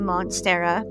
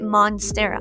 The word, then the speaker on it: monstera: very dramatic plant then I have a monstera which I didn't pronounce right for the longest time and I still don't I just want to say monster why can't we just say moner why is it Monera I have a Swiss